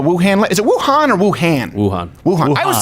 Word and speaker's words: Wuhan: Is it Wuhan or Wuhan?